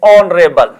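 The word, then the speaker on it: honourable: जैसे अपने पास एक वर्ड आएगा एयर, एयर है, एरेस है, ऑनर या ऑनरेबल, आवर है, ऑनेस्ट है। ये एच से शुरू होते हैं लेकिन इनका जो एच है वो साइलेंट है।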